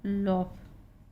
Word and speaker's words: laugh: OUGH, यहाँ पे OU silent है, इनका उच्चारण हो रहा है बस, सभी में OU साइलेंट है। ROUGH रफ, LAUGH लॉफ, और ये बना है लॉफ्टर, इसी से बना लॉफ्टर।